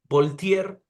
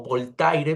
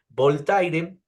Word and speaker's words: Voltaire: crítico de la religión voltier o voltaire Perdón por la pronunciación voltaire este en su diccionario